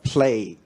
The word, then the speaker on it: play: 咁但係實際上咧，你應該 play football。Yeah. Okay. That's right. So basically the problem in pronunciation get down to the very foundation of English phonetics.